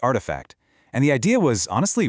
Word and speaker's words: RTFKT: He co-founds this company called RTFKT, pronounced artifact, and the idea was honestly revolutionary.